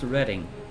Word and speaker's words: Reading: It's pronounced Reading.